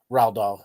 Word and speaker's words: Roald Dahl: Is it Roald Dahl? How do you say his name? Raldol, yeah.